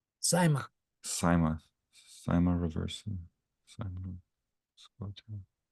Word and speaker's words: cyma: How do we pronounce the CYMA? Cyma.